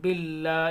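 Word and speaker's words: بالله: बिल्ला ये अलिफ साइलेंट रहेगा।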